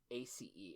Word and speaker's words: Havre de Grace: The Havre de Grace. You're gonna have to spell that. It's 3 words. It's French as hell, it seems. Yeah. HAVREDEGRACE.